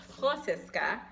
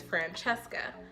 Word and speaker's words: Francesca: It's actually pronounced Francesca, but a lot of people can't say that, especially when you're in kindergarten. So early on, I recognized that it was a little bit difficult for some, and I went about it in the American way to say it, which is Francesca.